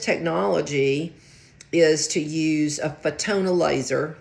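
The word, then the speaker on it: Fotona: And the latest technology is to use a fetona laser like photon light photon, but it's spelled with an F.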